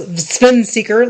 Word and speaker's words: SVN Seeker: Zvenseker and it's SVN Seeker, pronounced Svenseker like Kav.